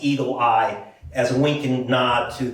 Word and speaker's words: Eagle AI: Well, you saw Cleita Mitchell, who is uh Trump's personal attorney and has formed this group, Eagle AI, which she pronounces Eagle Eye, as a winking nod